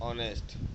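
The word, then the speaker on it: honest: Choose the silent letter in the word ऑनेस्ट। अब इस ऑनेस्ट में साइलेंट जो वर्ड है यानी जिसका उच्चारण नहीं होता है वो शब्द बताना है, वो हो गया है एच।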